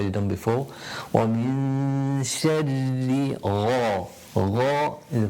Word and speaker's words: شَرِّ: وَمِن شَرِّ. Two ra's to pronounce because of the shadda on ra.